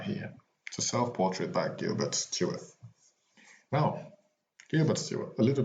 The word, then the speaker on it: Stuart: named gilbert charles stewart so stewart is spelled s-t-u-a-r-t but he was born s-t-e-w-a-r-t so he came from st ward to stuart on this day in 1755